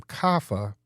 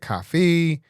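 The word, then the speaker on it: Kafi: dating she said because no one could say her name kafa k a fi they said cfei or whatever it was um and even some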